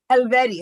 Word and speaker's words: Helvetti: Eddie, how do you say the last name? I think I pronounced it wrong earlier. Helvetti. Helvetti.